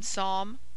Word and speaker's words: Psalm: as in him condemn P before s and t is mute as in Psalm pseudo tarmigan pronounced Psalm